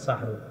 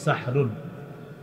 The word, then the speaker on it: সাহরুন: সাহরি সাহারি কি খাওয়া এই সাহরুন এটা সুন্দরভাবে উচ্চারণ হবে সাহরুন সিন হা জবর সাহ র দুই পেশ রুন সাহরুন এটা হলো আমরা যেটা